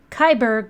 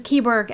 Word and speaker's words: Keyborg: Kyberg welcomes you to Hotel California. Very neat. Actually, Keyborg. I say it wrong every time.